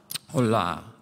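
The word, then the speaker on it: עולה: Olah. Sounds like hola in Spanish, right? Hola. But it's spelled, you know, ayin, and should be really, I think, a vav there, a holam, you know, and then a lamed and a hey.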